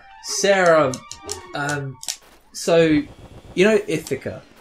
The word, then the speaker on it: Ithaca: I thic a yeah so you pronounce it if occurs yeah yeah yeah she called it it occur those I'm lucky on about she's like it's how it's how it's spelled I almost know it